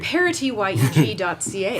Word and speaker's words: Parityyeg: Parityyeg.ca. Pronounce that T. Make sure you pronounce that T. Parity, as in equality.